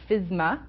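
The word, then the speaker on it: FSMA: that are not familiar it's sometimes pronounced fisma um it was signed into law by President Obama on January 4th 2011.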